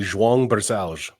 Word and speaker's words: Barcellos: it sound uh my full name would be Jang Bal that's so good which is great the reason